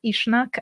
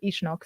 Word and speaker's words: Uisneach: fire Festival uh at ishnuk I'm hoping to pronounce it right I've had pronounced ishnak and ishnok but uh the Irish people I heard them pronounce the ishnock so that's what I'm going for and it was really